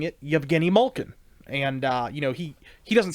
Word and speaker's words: Yevgeny: There's no Y at the beginning, but Yevgeny Malkin.